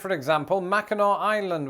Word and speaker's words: Mackinac: Like, for example, Mackinac Island, which is not pronounced Mackinac Island.